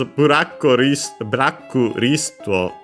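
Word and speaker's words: ブラックリスト: So yeah, we have blacklist in adapted to the Japanese pronunciation. Notice the doubling of the consonant in buraku, but otherwise the usual, the additional u, because the most consonant can stay on their own in Japanese.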